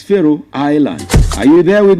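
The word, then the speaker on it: Faroe: Even though it's not the same spelling, they are pronounced the same way.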